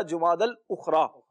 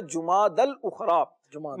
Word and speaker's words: جمادی الاخری: اچھا، یہاں پر تلفظ بھی بعض لوگ درست نہیں کہتے، بعض کہتے ہیں جمادی الاخر، بعض کہتے ہیں جمادی الاخر، تو یہ دونوں ہی تلفظ غلط ہیں. درست تلفظ ہے جمادی الاخری. مہینے جتنے بھی ہیں سارے کے سارے مہینوں کے نام یہ ہے مؤنث. جب مؤنث ہے تو آگے صفت بھی ان کی مؤنث آئے گی. تو جمادی الاولیٰ، جمادی الاخری، یہ اس کا تلفظ ہوگا.